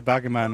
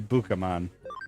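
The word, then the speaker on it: Bukamon: Hey, Bakaman leveled up. That's also not how that would be pronounced. It would be Bookamon cuz it's B U K A and I keep saying Baku.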